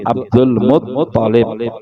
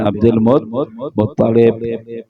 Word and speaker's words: Abdul Muttalib: Kadang-kadang sebagian orang mengatakan Abdul Muttalib, ya, keliru membacanya, tidak dosa, tapi yang lebih bagus itu Abdul Muttalib, toknya yang tasydid, Muttalib bukan Muttalib, bukan Abdul Muttalib salah, tapi Abdul Muttalib.